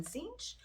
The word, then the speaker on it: Tzeentch: today we are doing Tzeentch and the Demons of Tzeentch. And I am very proud to say that I can finally pronounce that correctly, because that pronunciation does not go with the spelling.